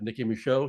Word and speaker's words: Nicki Micheaux: of Hollywood and entertainment world and we have Nikki Michelle here today and I'm so excited to have you and did I pronounce the name correctly you did it you